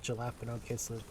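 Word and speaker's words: jalapeño: I know it's jalapeno.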